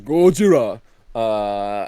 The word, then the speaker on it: Gojira: he says Gojira, and that's not racist. That's how they say it.